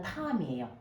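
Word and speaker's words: תם: 조용한 사람의 원어는 탐이에요. I am 탐, 우리 영어로 탐. 그 탐과 같은 발음이 탐이에요.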